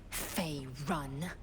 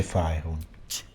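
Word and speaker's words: Faerûn: Fey run. Si dice Faerun.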